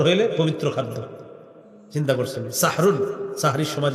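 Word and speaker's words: سحور: সবাই সাহরি কি খাওয়া এটা সুন্দরভাবে উচ্চারণ সাহরুন সিন হা জবর সাহ র দুই পেশ রুন সাহরুন এটা হলো আমরা যেটা খাবো আর কি হ্যাঁ আরেকটা হলো সিন হাজের সিহ র দুই পেশন সেহরুন মানে জাদু সেহরুন মানে কি সেহরুন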